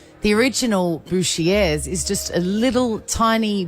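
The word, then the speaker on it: Bouchier: right we call it bushier because it's spelled b o u c h i e r and it looks like you should say butcher in another language perhaps it's not I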